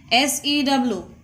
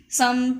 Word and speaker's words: sew: Some people are saying that sew, but it is not sew. It is, the correct pronunciation is so.